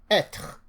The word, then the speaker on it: être: but in an E, when accent circumflex comes on an E in a word, that E is pronounced as E. So an example which you will run into all the time is être. Être, which means to be. Être. So accent circumflex, when you see it on an E, you pronounce it as E.